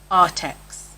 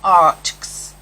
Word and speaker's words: Arrtx: Now I know that everybody on YouTube pronounces this Arrtx because they say art and then X. As somebody who used to teach phonics, to me this is Arrtx.